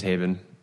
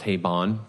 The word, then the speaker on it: Haibon: with me for example my last name is Haven but it's also pronounced hate ball depending like it's fine either way but what rhymes with